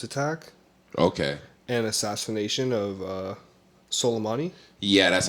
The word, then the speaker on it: Soleimani: and assassination of Soleimani.